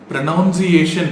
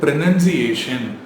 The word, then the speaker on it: pronunciation: ப்ரொனவுன்சியேஷன் அப்படின்னு சொன்னால் தப்பு. இது ப்ரொனன்சியேஷன். ப்ரொனன்சியேஷன். So next time சொல்லும்போது ப்ரொனவுன்சியேஷன் சொல்லாதீங்க, ப்ரொனன்சியேஷன்.